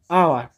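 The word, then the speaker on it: hour: এটা আওয়ারের উচ্চারণটা H silent থাকছে, অর্থাৎ এইচের উচ্চারণটা হচ্ছে না, যে কারণে এটা কি অ্যান হয়ে যাচ্ছে, এ না হয়ে অ্যান হয়ে যাচ্ছে।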